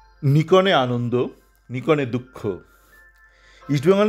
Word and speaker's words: Nikon: তারপরই দেখলাম আরো একটা ভালো খবর আজকালে বেরিয়েছে যে নিকন বা নাইকন আমেরিকান নাই নাইকন বলে আই আই করে উচ্চারণ হয়।